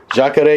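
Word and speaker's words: Jacaré: But you know why I would choose how do you pronounce his name? Is it Jacare? That's a nickname, isn't it? Jacare, yeah, it's Ronaldo, but Jacare means alligator because he does this whole alligator thing, yeah.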